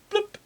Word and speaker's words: PLMP: But over the top we have this made up word which is spelt PLMP. It's pronounced bloop.